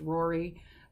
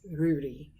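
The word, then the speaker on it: Ruairidh: my new favorite characters Rudy and that is often Americanized in our anglicized I should say and in some places as Rory but it is Rudy in Gaelic so those are some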